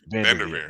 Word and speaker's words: VanDerveer: And actually, her mom played ball at Stanford in the early 90s for Tara I can never pronounce her name. Vanderveer.